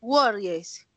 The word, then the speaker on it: worries: En ese caso la pronunciación es worries, worries. Es más, se las voy a mostrar porque es así interesante cómo se pronuncia. Mírala aquí. Miren que yo no tengo la E. Miren que la E está escrita aquí, pero no está representada aquí en el sonido, miren.